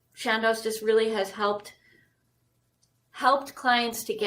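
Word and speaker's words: Chandos: It's Shandos.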